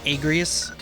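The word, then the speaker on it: Agrias: And then Auguries has a mission with this bitch. This is when we find out it's pronounced Agrius.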